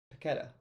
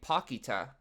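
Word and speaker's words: Paquetá: Paqueta. They were saying Paquita on the broadcast. No.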